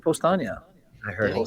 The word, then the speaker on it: Powstanie: He said Paustania. No, that's what he normally says. But he said Postania.